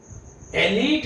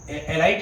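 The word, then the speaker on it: elite: एलीट school, एलीट का मतलब होता है हाई क्लास, उच्च वर्ग को बोलते हैं एलीट। एलाइट नहीं बोलेंगे, प्रोनाउंसिएशन क्या है बेटा इसका, एलीट। बस फिनिश करने वाले हैं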